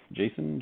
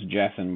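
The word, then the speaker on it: Jasson: then a jason dominguez jason jackson i always i always read his name as jasmine but i think it's pronounced jason dominguez for the yankees that's a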